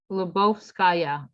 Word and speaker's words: Lyubovskaya: last name how do you say it yeah lebovskaya okay all right she's going to be teaching